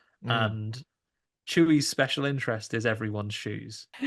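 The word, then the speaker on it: Chuy: Chewy. Chewy. Chewy. Yeah, that's what we thought as well. I was like, is it Chewy? Like Star Wars Chewy? It's spelled C H U Y apparently.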